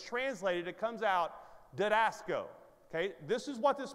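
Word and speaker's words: διδάσκω: Just pronounce it right, all right? Didasco. Say it out loud. Didasco.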